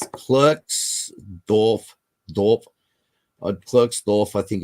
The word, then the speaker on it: Klerksdorp: It's Klerksdorp. Klerksdorp, I think it's pronounced, spheres, or Klerksdorp spheres, originated.